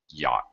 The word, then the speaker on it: yacht: on a yacht yachtsman yacht yacht is a weird word we don't even pronounce the CH at all CH is